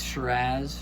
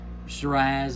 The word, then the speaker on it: Shiraz: of my Sierra Pines Shiraz. And this is out of California. Shiraz is what they kind of call it in Australia. Shiraz usually is how we pronounce it in the States, but it's also the Syrah grape as well.